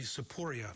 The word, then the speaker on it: Tsipouria: all right also join us in studios saporia did I pronounce that correctly yes saporia he is